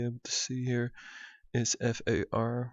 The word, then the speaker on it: FAR: to see here is f a r which i pronounce as far and fractionally angle three